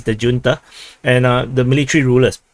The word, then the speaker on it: junta: and tell me that this is actually the Spanish word it's pronounced as Junta but if I say Junta no one in the English will understand what is this it's the Junta and uh the military